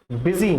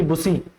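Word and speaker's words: busy: और कई बार ये जो यू है आई की साउंड क्रिएट करता है, प्रोड्यूस करता है, जैसे कि बिजी ना कि बुसी, ठीक है।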